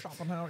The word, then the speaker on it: Schopenhauer: The guy has a really, Schopenhauer, I believe is how it's pronounced. Schopenhauer, yeah. So Schopenhauer argued that people